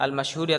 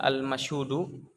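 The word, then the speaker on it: المشهودُ: Apa bacanya? Al-masyhudi atau al-masyhuda? Al-masyhudu. Kalau al-masyhudi berarti sifat untuk ad-din, ya, agama yang disaksikan.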